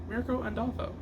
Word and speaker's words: Mirka Andolfo: All right, first up, we have Mirka Andolfo's Mercy, issue number 2. Who? This is Mirka Andolfo. Mirko and... I say the name wrong.